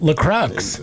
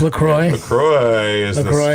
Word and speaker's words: LaCroix: try to mispronounce it lacrosse i think it's lacroix i've always called it lacrosse so many times lacrosse